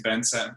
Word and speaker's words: Bence: of people know me so my name is bensen and in case you're wondering how to pronounce this weird name the key is that